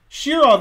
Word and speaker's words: Shirov: wrong and so forth shirov is correct they said shira okay now you will